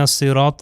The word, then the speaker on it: الصراط: آپ دیکھ سکتے ہیں حرف صاد جو ہے، صاد کو سین کی طرح تلفظ نہیں کرنا، صاد جو ہے موٹا ہے، تھک لیٹرز میں سے ہے، زبان جو ہے پیچھے کی طرف سے اوپر جائے گی۔ اہدنا الصراط المستقیم، مستقیم